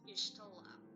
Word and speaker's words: Y'shtola: Her name is pronounced Y'shtola.